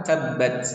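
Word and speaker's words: تبّت: hurufnya Sin menjadi Assa Nah di sini huruf huruf bnya bertasidat Nah jadi harus di tekan dulu tabbat tabbat tidak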